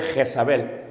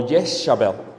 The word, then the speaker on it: Jezabel: En la Biblia se va a pronunciar en Tiatira el nombre Jezabel o Yesabel.